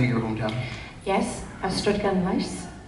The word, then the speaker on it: Ystrad: Yes, Ystrad. Right. That's not how it's spelled. Come on, Mom! You were born there! One more time. Ystrad.